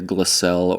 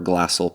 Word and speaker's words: Glassell Park: a place in, well, depending on how you want to pronounce it, either Glassell or Glassell Park.